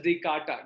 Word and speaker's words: Descartes: It is written as Descartes, but pronounced as Descartes.